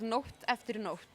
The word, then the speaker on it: Nótt eftir nótt: how long I've visited so why don't you pronounce it form it's called North afternoon off it means night by night or night after